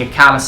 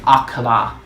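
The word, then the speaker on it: Akkala: to see the great plateau getting to see a callous citadel where i should be saying accola since that's apparently how it's pronounced but that was another really cool moment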